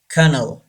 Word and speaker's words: colonel: don't say pamphlet pamphlet number three colonel don't say colonel it's wrong Cano Cano say this word colonel laughed and laughed inant